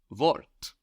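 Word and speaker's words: Wort: t- shift we've seen the word vort the word for word which is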